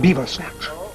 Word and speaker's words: Belvoir St. Nash: Lord Timothy Belvoir St. Nash. It's pronounced beaver snatch.